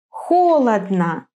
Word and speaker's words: Холодно: In some three-syllable words, the accent falls on the first syllable. Холодно.